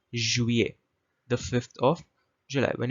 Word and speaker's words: juillet: So you can see she's come to the board and she's written Juillet. That's the spelling of juillet. The LL is silent.